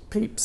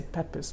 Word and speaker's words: Pepys: Samuel, I always get his name wrong. Pepys, isn't it? I want to say Pepys, but Pepys, who I think attended St Paul's Cathedral when there were like 17 people there.